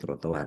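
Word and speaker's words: trotoir: Kalau tulisannya trotowir bacanya apa? Bacanya trotoar kan?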